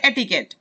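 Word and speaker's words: etiquette: Code है, एटिकेट, एटिकेट, इसकी pronunciation क्या है, इसकी प्रोनाउंसिएशन है एटिकेट।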